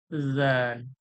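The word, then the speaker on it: ذال: লাগাচ্ছি দাল হয়ে যাচ্ছে আর এইটা যখন আমি জাল বলবো জীবের আগালটা যখন সামনে দাঁতের ধারালো অংশ অর্থাৎ আগালে লাগাবো দাঁতের উপরে লাগাবো তখন এই উচ্চারণটা হবে জাল জাল জাল জাল জাল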